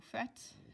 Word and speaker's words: faites: Vous is vous faites, F-A-I-T-E-S. It's a lot of silent letters, but vous faites.